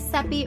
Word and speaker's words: Seppi: And if you're new here, my name is Seppi, rhymes with peppy, from She Hit Refresh.